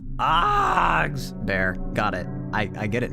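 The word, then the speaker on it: Fazbear: It's pronounced Fozbears? Fogs bear.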